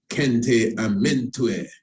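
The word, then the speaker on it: Khenti-Amentiu: So, Kente Amente, I say Kente Amente, pronounced different ways. So it has it here, Kente Amente, or Kente Amentue.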